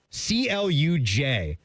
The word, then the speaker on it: Cluj: C L U J. What's her pronunciation for that Romanian town?